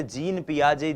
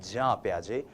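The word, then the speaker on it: Jean Piaget: लेकिन यह जो जीन शब्द है जे इ एन जो ये स्पेलिंग है ये स्पेलिंग जो है इसका उच्चारण जब आप स्विस भाषा में करते हैं यूरोपियन कंट्रीज में करते हैं फॉरेन ऑथर्स को पढ़ते हैं तो वो होता है जा पियाजे।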